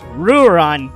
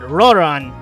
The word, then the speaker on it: Ruran: I'm like, ah, and now it's Ruran, not Roran.